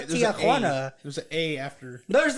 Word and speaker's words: Tijuana: It's Tijuana. Oh, well. Tijuana. It's not my aunt. Got to really emphasize that J though. Come on. Tijuana. It's not Tijuana.